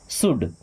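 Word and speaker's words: should: या फिर यहां पे एल साइलेंट ना सु क्या हो जाएगा शुड शुड नहीं पढ़ते हैं। एल साइलेंट होता है।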